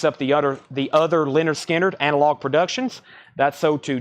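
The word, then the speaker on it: Lynyrd Skynyrd: James brag Shawn Holford wants a Leonard skinnard pronounced Leonard skinnard that's sold to Shan hulford uh there's da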